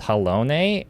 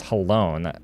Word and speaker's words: Halone: Everybody was pronouncing as Halone the entire time for like 10 years until like they finally said the name like in the game from voice acting, and we're like saying, "Oh, it's pronounced Halone."